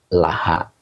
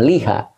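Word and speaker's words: لها: Nah, kemudian di sini ada laha. Li-nya huruf jer, hanya domir mutasil sebagai majrur. Li itu huruf jer. Kalau nyambung dengan domir mutasil maka dibacanya la. Bukan liha. tetapi laha.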